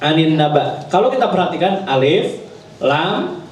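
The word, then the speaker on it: النبأ: Sehingga nanti cara bacanya gimana? Suratun Naba. Bukan surat An-Naba, gitu ya. Beda artinya nanti. An-Naba dengan An-Naba. Jadi ada ngedennya dikit.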